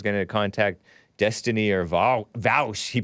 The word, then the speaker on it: Vaush: James Coons of Modern Day Debate was talking about, oh, maybe Hunter is going to contact Destiny or Vaush. He pronounced it, he spelled it Vaush. Vosh.